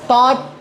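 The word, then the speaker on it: taught: हैं कि जो यू, ये GH जो है ना, ये कंप्लीटली साइलेंट है। ये ऐसे बहुत से वर्ड्स है, fight, फॉट, फॉट, teach, टॉट, टॉट, bring, ब्रॉट, ब्रॉट, बाई, बॉट, bot, seek, short, short. Silent letters बहुत है इंग्लिश के अंदर। तो यहाँ पे जो वर्ड है दो भी अल्फाबेट से, G और H, ये दो भी साइलेंट है। आप साउंड कैसा आएंगे इसका, TOT का साउंड आएगा खाली, TOT।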